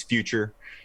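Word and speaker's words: Fyuchur: His name is Future. and that's FYU-CHUR.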